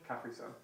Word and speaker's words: Capri Sun: You're putting the emphasis on the completely wrong part of the word.